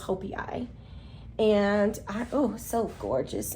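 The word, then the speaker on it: joepii: It's spelled like jopi, but I think it's pronounced hopi.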